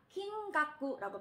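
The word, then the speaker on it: きんがく: 긴깍구라고 발음을 합니다.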